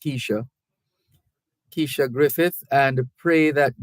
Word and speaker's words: Kesia: Is this Keisha? It's spelled Kesia. It could also be pronounced Keisha.